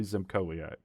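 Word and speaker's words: Zymkowiak: w i a k it's clearly zimak yeah I think you're right that's how I would have said it zimak so zimak at all the s is silent yeah okay Zak at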